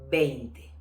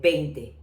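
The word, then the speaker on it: veinte: Because when I say 20, and sometimes when I teach Spanish and people tell me, why you don't say 20, it's with V. No, in Spanish it's the same.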